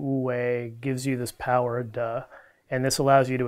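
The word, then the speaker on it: 德: the early Chinese call unfortunately the Mandarin pronunciation is Du which sounds kind of funny it's this energy you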